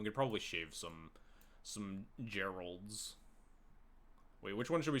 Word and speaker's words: Geralf: definitions of hard and soft G's to fit my interpretations so it is it's Geral then and gissa or Giza so it's Geral it is like Gerald how